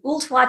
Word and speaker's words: Ooltewah: Animal Hospital is in Tennessee that I always mispronounce? Applebrook is located in Ooltewah, Tennessee, which is just north of Chattanooga, which is easier to say.